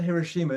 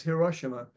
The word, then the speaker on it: Hiroshima: that's the way I think it's not Hiroshima it's Hiroshima I I looked up